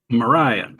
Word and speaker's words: Mriya: How do you pronounce her name? Mariah.